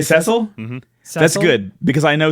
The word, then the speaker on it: Cecil: version is voice acted they do say oh they say cecil that's good because i